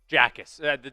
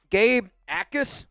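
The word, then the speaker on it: Jacas: Jackis. The J is silent. Gabe Ais.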